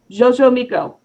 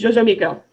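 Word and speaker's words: Xoximilco: because it's fun, is, this one's pronounced weird, okay? You ready? Jojo Miko. That's what you get out of the title. It's Jojo Miko.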